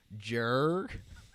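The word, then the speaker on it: Joerg: his name is Joe but it's actually spelled Jer that's how it's spelled Jer jar Jer it's actually just how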